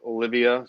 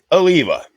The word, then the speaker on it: Oliva: But the amount of shit that people don't know, like Olivia cigars. Oliva. You guys got those Olivias? I love those Olivias. Okay. Oliva.